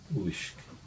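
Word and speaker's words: uisge: Uishk. U-I-S-G-E, but you don't pronounce the E.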